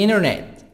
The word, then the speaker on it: internet: online online on the internet on the internet on the internet internet will not attend about the American internet internet no Konami T silent shangilia heart fillion tavern